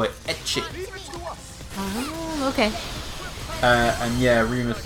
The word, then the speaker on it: ecchi: H, they call it ecchi. Oh, okay. And yeah, Remus is doing the same thing again. I don't watch ecchi harem. Ecchi is the Japanese pronunciation of H from hentai, which means pervert.